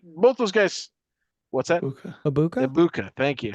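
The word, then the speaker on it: Egbuka: Ibuka, thank you. Ibuka.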